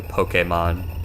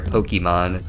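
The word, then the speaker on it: Pokémon: Even that it depends, because the proper pronunciation is technically Pokemon, but you're gonna hear Pokemon just as much, so...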